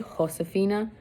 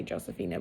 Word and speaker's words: Josefina: Josefina follow it's actually Xhosa FINA but cuz a J is pronounced like a H but I just say Josefina but it should be